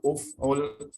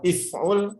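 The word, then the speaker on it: اُفْعُلْ: Karena di dhammah bacanya uf'ul, tidak mungkin dibaca if'ul, tidak mungkin dibaca af'ul.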